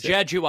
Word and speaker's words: Jeju: How do you pronounce that island in South Korea? I don't know. Korean. Jeju Island. All right, it's Jeju Island.